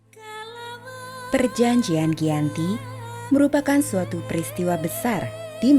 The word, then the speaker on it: Giyanti: Dalam pelafalan Belanda, ia tersebut sebagai Giyanti, dan secara tertulis ia terbaca sebagai Giyanti.